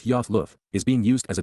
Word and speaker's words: Ayaloth: Ayaloth, pronounced as Yoth Luth, is being used as a divine title, similar to Elohim, although now in conjunction with the set-apart spirit.